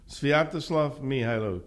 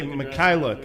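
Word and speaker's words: Sviatoslav Mykhailiuk: Well, they could say Mikhailuk. I don't think so. No, I think the K is silent, and that's what Svi said, and why not go with him?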